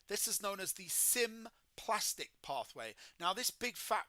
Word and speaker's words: symplastic: So I think phonetically the symplastic pathway, which is spelled SYMPLAST, symplastic, sounds like cytoplasm.